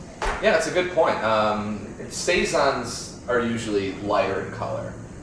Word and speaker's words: saison: Saison is the proper pronunciation.